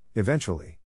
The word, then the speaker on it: eventually: In this case, the accent is in the second syllable, corresponding to ven.